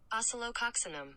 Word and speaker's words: Oscillococcinum: Here's the pronunciation. Oscillococcinum.